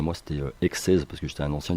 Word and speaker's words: Xeiz: Et au final, en phonétique, je me suis dit, en l'écrivant, en fin de compte, c'était naturel de le prononcer X16, X-E-I-Z, en fait.